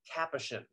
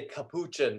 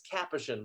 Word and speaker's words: Capuchin: correction eddie it's pronounced capuchin most people say capuchin and that's totally normal um we hear that all the time but it's capuchin like the capuchin monkeys got it so i've